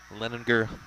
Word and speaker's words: Leninger: the lefty stepping in leninger hard g got it this one